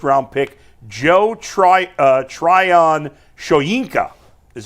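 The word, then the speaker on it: Tryon-Shoyinka: former Buccaneers first round pick Joe Tri uh Trion shinka is how you pronounce it jts J we got a jts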